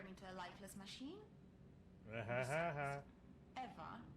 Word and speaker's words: Ewa: Did you say your name was Eva? Yes, that's right. So you have the same name as that thing? Could you please not compare me to a lifeless machine? Eva is spelled E-W-A, not E-V-E.